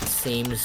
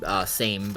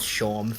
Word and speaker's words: Seam: And also, I did pronounce it as Shawm for so long before realizing, oh, like, stitching seams, yeah.